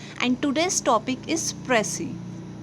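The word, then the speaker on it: précis: ठीक है, जिसका मीनिंग क्या होता है, प्रिसाइज और एग्जैक्ट टर्म्स में लिखना। ठीक है, इट इज़ प्रोनाउंस्ड एज प्रेसी।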